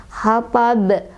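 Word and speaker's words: حطب: Makanya cara bacanya dipantulkan dan pantulannya besar. hatab, hatab gitu ya.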